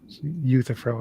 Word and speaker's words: Euthyphro: Euthyphro is how you pronounce that.